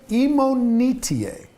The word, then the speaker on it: Imonitie: uh in this conversation his name is David imonitier and I just because I've heard it pronounced five different times five different ways right